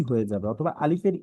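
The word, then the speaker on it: ألف: অর্থাৎ আমরা যখন উচ্চারণ করব, সামনের উপরের দাঁত, এই দাঁতটা, নিচের ঠোঁটের পেট, আর যখন আমরা আলিফটা বলবো, বাতাসটা চালু থাকবে, আলিফ, আলিফ।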